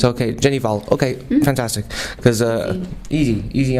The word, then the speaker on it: Hval: norwegian ology it's ok Jenny vol ok fantastic because a easy on GH easy on the H mr.